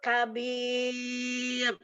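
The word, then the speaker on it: كبير: Nah, roknya tipis. Zalikal fawzul kabir. Kabir. Ro sukun karena wakof. Sebelumnya ya sukun, sebelumnya lagi huruf yang berharkat kasroh, maka roknya dibaca tipis. Kabir. Kabir. Di ujung lidah. Jadi di ujung lidah kabir.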